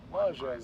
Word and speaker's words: Lajes: Lajes, that's how you pronounce it.